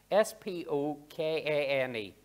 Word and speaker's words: Spokane: I'll spell this out for you because I might not pronounce it correctly. S-P-O-K-A-N-E, Spokane, Spokane.